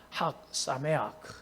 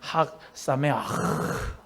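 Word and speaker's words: חג שמח: 시 이 작 예 학사 매야 그러면서 여기에 히브리어는 가래 끓는 소리를 많이 해야 발음을 찾아 날 학사 미아 진루 명절 분야 오늘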